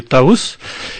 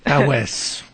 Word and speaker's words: Taous: Nous, en Kabyle, on dit Taous. Chimini, tu le prononces avec l'accent français, Tawes.